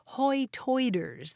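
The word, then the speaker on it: Hoi Toider: The longtime residents there call themselves Hoytoiders. That's the local pronunciation of high tide.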